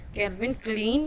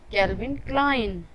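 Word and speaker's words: Calvin Klein: इसे अक्सर लोग गलत कहते हैं, इसे ज़्यादातर लोग कैल्विन क्लीन या कैल्विन क्लेन कहते हैं, लेकिन इसकी सही प्रोनाउंसिएशन है कैल्विन क्लाइन।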